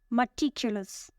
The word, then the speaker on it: meticulous: The first word is meticulous. Meticulous. It has 4 syllables. Meticulous. The stress is on the second syllable. Meticulous means showing great attention to detail, very careful and precise.